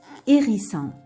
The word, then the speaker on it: hérisson: Ici, le H devient muet. On ne peut pas le prononcer. Ici, on ne peut pas le prononcer. Le H devient muet. On l'écrit, mais on ne le prononce pas. Comme homard. Homard. Hérisson. Hérisson. Haricot. Haricot.